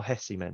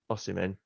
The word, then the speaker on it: Osimhen: For me, you know, if you want to spend 100 million on how do you say his name? Oh, Hessiman or something, isn't it? Osimhen. Yeah.